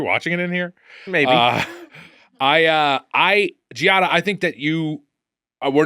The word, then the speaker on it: Ggiata: And Ggiata, I'll say this. Is it, and how do you say it? Is it just Ggiata or is it Ggiata? I don't think you pronounce both G's.